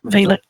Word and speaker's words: Valek: So is it Valek or Valek? It's one A followed by one consonant. That's a long A. Valek.